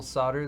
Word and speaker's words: solder: analysis of the actual solder that's being used, or solder, if you want to pronounce the L.